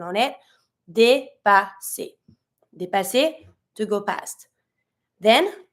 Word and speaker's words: dépasser: On the first E, you have the accent, so you're going to say dépasser, double S, S sound. Not careful, not dépasser, but dépasser.